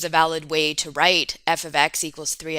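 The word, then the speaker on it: f(x): in this way and we pronounce f open brackets x close bracket as f of x let me write that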